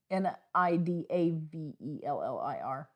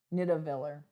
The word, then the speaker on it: Nidavellir: How do you pronounce the AE? You spelled it wrong. It's Nidavellir. Nidavellir.